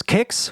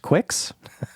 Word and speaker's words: Qix: Last episode, I chose Kicks, which until last episode, for my whole life, I pronounced Quicks. Yeah, it is Kicks, and since I am